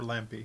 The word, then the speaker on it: Lampy: This was designed by Travis Lampy. Lamp or Lampy? How do you say it? Lampy. Lampe.